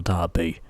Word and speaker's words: derby: race, single stunt, single event, and also single derby. Or as we pronounce it here in England, single derby.